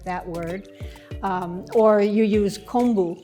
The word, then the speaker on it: kombu: word or you use kombu seaweed which can also be pronounced kobu which is part of